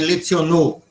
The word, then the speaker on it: leciono: Então, nunca vai ser leiono, não existe palavra proparoxit esperante, nem lecionou, nem uno, é leciono uno, tá?